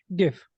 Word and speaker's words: GIF: it's GIF I said the guy who designed it says it's pronounced like the peanut butter but most people pronounce